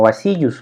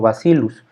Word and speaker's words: Bacillus subtilis: bacillus subtilis y entonces si se fijan bien en la regla de la doble doble l entonces no lo pronunciamos como vacíos lo decimos como bacillus bacillus subtilis y luego